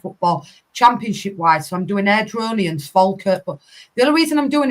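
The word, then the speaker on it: Airdrieonians: Airdronians. Thank you. There you go. Oh, Wait, I can pronounce something right.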